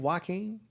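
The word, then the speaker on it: Joaquin: like Joe Joe car his name waen but it's like but it's with a J I know waen yeah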